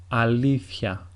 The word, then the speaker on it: αλήθεια: In the second way, it is as if a small he comes into the pronunciation.